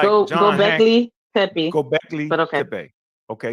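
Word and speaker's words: Göbekli Tepe: lot of pseudos go on that, like Graham Gobekli Tempe. Am I saying it right? Gobekli Tempe, right? People like John Gobekli Tepe.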